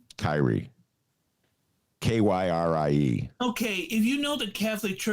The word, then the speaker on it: Kyrie: mrs or mr irving but that's how he pronounces it anybody who's listening who's catholic you know it's key really it's kiri is it spelled the same way yes kiri